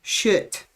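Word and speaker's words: kött: I already know, and it's spelled K-O with the little dots above it, which I don't know what they're called in Swedish either. T-T. That is pronounced shit. There is no K.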